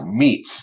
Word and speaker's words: metes: Now meets, and that's spelled METES if you're looking it up.